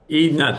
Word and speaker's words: Edna: Okay, so it's Edna, Edna, thank you. but it's, as I always say, it's okay that it's really hard to remember how to pronounce it because it's not spelled phonetically.